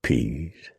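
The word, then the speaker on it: Pease: Ezra Peas and preacher pronounced the name to rhyme with peas.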